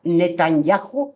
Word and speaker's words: Netanyahu: va a hacer y no va a ser Netanyahu, así se pronuncia.